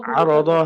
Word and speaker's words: عرض: يأخذون عرض هذا الأدنى عرض ضاء মোটা হবে হ্যাঁ উচ্চারণটা মোটা করে করতে হবে عرض هذا الأدنى ويقولون سيغفر